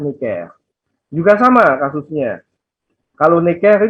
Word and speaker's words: Necker: Bacanya Jacques Necker.